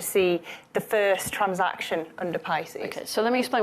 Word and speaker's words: PISCES: So this is Pisces, the private intermittent Securities and Capital Exchange System. Regulation, where the R is silent.